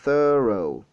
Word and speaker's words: thorough: C'est thorough. Donc, vous étirez un peu et il y a une petite pause. Ensuite, vous dites row.